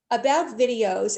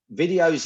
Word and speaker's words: Viddyoze: So on that point, James, what I want to ask you is, so now tell us a little bit about videos and who you want to be meeting so that people out there will be able to either connect with you.